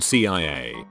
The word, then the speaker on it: CIA: Both are initialisms, so you pronounce each letter as in SEEM and SEO, just like the CIA isn't pronounced Kia but CIA.